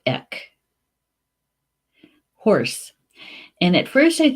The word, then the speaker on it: each: BEC it's spelled EA CH and Gillick but pronounced ik horse and at first I thought this was